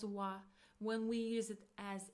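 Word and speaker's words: は: It is pronounced as wa wa but we write it as hiragana ha ha. So when we use it as a particle we pronounce it as wa.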